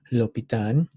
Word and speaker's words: L'Hôpital: hospital but this one this mathematician is french so we're gonna call him lopitan okay we're gonna talk